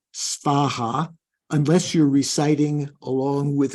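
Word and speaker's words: svāhā: pronouncing that no no s v a h a right in Sanskrit so the Tibetans can't manage that so uh the the closest they come is to say Soha so it is probably better to say spaha unless you're reciting along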